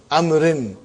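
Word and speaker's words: عمرو: Haza kitabu amrin. Waw is still written. Are you with me? It's not pronounced. It's just to, why it is written? To differentiate between Umar and Amr.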